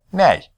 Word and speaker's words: 那: The word for that is the falling tone syllable "nei."